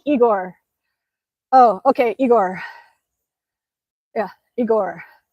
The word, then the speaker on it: Igor: Uh, Igor as I see you like Russians because you pronounce my name correctly. It sounds like Igor.